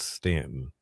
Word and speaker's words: Staunton: Staunton, pronounced Stanton.